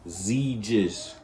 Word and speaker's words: Xegis: It's pronounced Xegis.